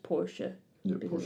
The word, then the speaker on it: Porsche: So I was right that I was like, it sounds German. That's because it was founded in 1931 by Ferdinand Porsche, who is German. Oh, Porsche. So it would actually be pronounced Porsche.